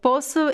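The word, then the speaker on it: poço: sound so we have the word posso posu is the place it's a well right well with water with the sea uh and it is pronounced with o closed o and then we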